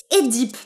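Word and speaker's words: Œdipe: sophocle et oedipe roi que l'on prononce et deep paraît-il mais moi je vais continuer à l'appeler oedipe parce que ben voilà c'est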